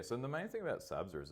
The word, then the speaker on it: SABSA: So you're a big advocate of using frameworks like SABSA. Yeah, correct. Hope I've pronounced that properly.